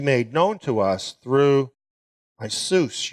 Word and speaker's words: Iesus: known to us through Isus, your servant. That's the Greek pronunciation.